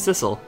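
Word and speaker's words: Sissel: sorry I'm not mile my name's sisle it Rhymes it's almost missile sisle my name is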